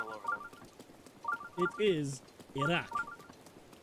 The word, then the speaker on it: Iraq: It is Iraq. Like that is the closest way to correctly pronounce it.